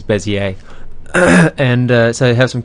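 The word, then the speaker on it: Bézier: i e r but I believe the pronunciation it's probably French is bezier.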